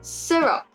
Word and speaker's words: syrup: opposite so what it's like syrup the stress on the syrup is on the first syllable so stuff like that